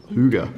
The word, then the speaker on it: hygge: And I was reading this great book about the way the Danes live, and it's this book called Hygge, they pronounce it.